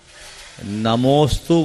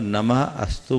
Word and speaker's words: नमोस्तु: नमोस्तु बोलने में और नमः अस्तु बोलने में फर्क महसूस करते हैं? जी सर। अर्थ में कोई अंतर नहीं, लेकिन दोनों के उच्चारण में क्या अंतर? तो नमोस्तु पद जब अपने आप में एक पूर्ण पद है, तो उसे तोड़े क्यों?